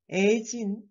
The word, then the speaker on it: 애진: And also, in case of people's name, 애진, if you pronounce it as 애진, it seems like you are calling someone else.